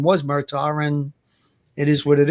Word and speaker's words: Murdaugh: If his last name wasn't Murdaugh, what do you think the case would have been? Louis, it's actually Murdaugh, like Murdaugh. It's almost like Murdoch, like Murdaugh. It's pronounced.